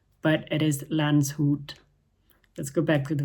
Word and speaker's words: Landshut: So, I would like to correct my pronunciation on the video. The city's name is not Lanchut, but it is Lance Hoot.